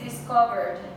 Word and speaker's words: discovered: And the stress is on which one? Okay, discovered on the second one. If it was on the first one, how would it sound?